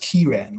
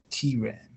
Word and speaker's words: Ciaran: It's actually pronounced Kieran, like K-E-Y-R-A-N, Kieran.